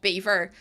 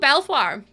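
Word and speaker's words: Belvoir: And I was like, "Oh, Belfoir? No, no, Lucy. It's Beaver." And I was like, "Oh, okay." I was like, "Belo? I got that. No, no problem at all. No, no, no. It's Beaver."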